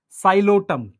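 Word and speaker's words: Psilotum: साइलोटम P silent है साइलोटम terrace ड्रायोटेरिस Adiantum azolla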